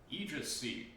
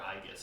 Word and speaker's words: Aegis: Aegis Shield. Or Aegis, depending on how you want to pronounce it.